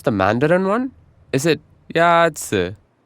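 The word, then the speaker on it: 鸭子: 鸭子 Is pronounced with a first tone. In Mandarin, there are 4 tones, which are essential to distinguish the meaning of words. The first tone is a high, level tone.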